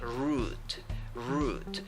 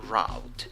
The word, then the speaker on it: route: have o and u in the pronunciation you only have a long u so you say root root but you can also say route and the last letter